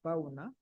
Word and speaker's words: Bauna: Bauna, he said his name is pronounced as Bauna, Bauna, Mr.